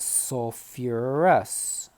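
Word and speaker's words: sulfurous: particular sample problem sulfites so fewer arrests keep that second syllable in just like we did with phosphorus sulfate sulfuric acid okay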